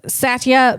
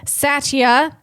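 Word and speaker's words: Satya: Satia s a t ya.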